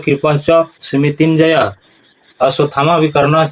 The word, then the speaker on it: कृपश्च: और कृपश्च नहीं होगा, उच्चारण क्या होगा कृपच।